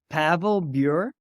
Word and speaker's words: Pavel Bure: It's Pavel Bure.